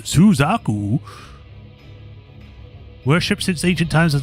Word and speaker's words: Suzaku: Shi Suzaku, pronounced Suzaku.